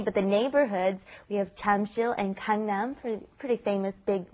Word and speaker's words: 잠실: Notice it's not spelled Jamsil, it's Jamsil is the spelling, but the pronunciation, of course, is right in between that J and that CH, isn't it? Jamsil, right?